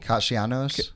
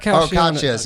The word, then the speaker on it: Casia's: Is that how you say it? Cashos, not Cashas. Yeah.